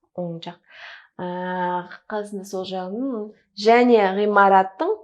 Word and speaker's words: оң жақ: И здесь правильное должно быть произношение. Оң жағында. Вот такой, как звук в английском. Ну, вы на вашем уровне уже знаете про правильное правозвучание. Просто здесь вот принципиально правильно произнести оң жақ. Не он жақ, оң жақ.